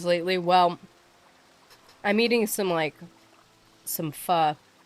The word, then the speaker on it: pho: Especially, I used to think it was pronounced pho, and it's not. It's pronounced pho.